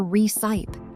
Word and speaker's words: recipe: It is not re-ci-pe or re-ci-pe. You must pronounce the final E as re-ci-pe.